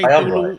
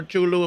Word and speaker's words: Cthulhu: He said Chulu. Oh, whatever. You You Latin people always think you're right. Okay, you're not right. Okay, sounds pronounced, bro. He's American. He can say Tulu or Chulu if he want to.